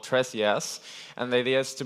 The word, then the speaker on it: TresJS: Tres is a Spanish word for ThreeJS, and it's pronounced tres, and in reference of the library.